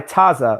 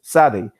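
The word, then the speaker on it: צדי: Can you explain why Taza, or what's actually known in actual Hebrew as Sadeh, why that word, Taza, explain that to people, why that's a faulty pronunciation, why it's one that, it's just sad.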